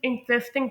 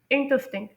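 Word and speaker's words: interesting: जो पहला लफ्ज़ है दिलचस्प की जो इंग्लिश है उसे कुछ लोग इंटरेस्टिंग प्रोनाउंस करते हैं, लेकिन नहीं, यहाँ पर जो एम्फोसिस है वो दूसरे सिलेबल पर नहीं, वो पहले सिलेबल पर है, यानी इंटरेस्टिंग।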